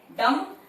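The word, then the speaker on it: dumb: डम, B silent है, डम, लाइट डैश अ।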